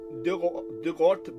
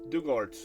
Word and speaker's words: Dugort: She has a nice cottage overlooking Dugort Beach. How was this pronounced? I forget. Half swallowed by fuchsia bushes and giant rhubarb. Let's see. Dugort. Dugort. Not Dugort, but Dugort.